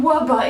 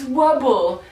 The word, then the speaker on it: Wubble: excuse me fine internet it is not Wubba it is wubble it's wubble I've been pronouncing it